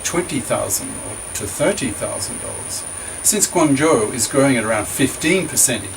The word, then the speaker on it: Guangzhou: In fact, the city of Guangzhou, pronounced Guangzhou, near Hong Kong, was the first city in China to have an annual per capita income of over $10,000.